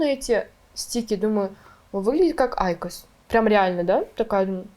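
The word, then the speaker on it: IQOS: Тебя сейчас забанят, а нет, не забанят, я уже какой раз выхожу с Айкос. И Айкос. Я такая, почему Айкос? Захожу в Google, такая, как правильно читается Айкос? И там ударение на А, я такая, так, либо я тупая, либо эти девочки тупые.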